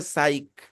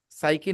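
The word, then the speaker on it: psych: तो एक इंग्लिश में वर्ड है साइक। साइकी नहीं, साइक।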